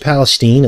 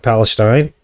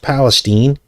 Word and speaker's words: Palestine: filmed in this area East Palestine now it's pronounced Palestine it looks like Palestine but it's pronounced Palestine and the place where this occurred is right